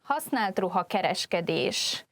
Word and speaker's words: használt ruha kereskedés: This entry, használt ruha kereskedés, could be difficult to